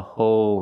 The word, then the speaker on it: whole: review a whole review to make the L at the end of whole we use a dark L the tongue gets tense and expands oh and you have to touch the roof of your mouth with the tip of your tongue oh oh I can't